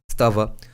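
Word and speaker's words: स्तव: English it's pronounced as in Sanskrit it's pronounced as stava so stavaraja means king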